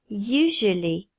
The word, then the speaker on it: usually: Fais bien attention à faire le son Y et ensuite un son J. Usually.